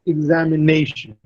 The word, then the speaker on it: examination: Look at the word examination. The stress is on ne.